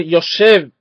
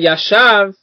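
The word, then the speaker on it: יושב: Por ejemplo, si en vez de leer Yoshev lee Yashav, ahí cambió.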